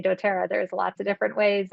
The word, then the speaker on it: dōTERRA: noticed this um do tea so they actually phonetically sound out for you how to say dotera there's lots of different ways and you can